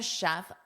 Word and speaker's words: chef: It's shh with an sh. Chef chef. It is not with a ch like you have the spelling.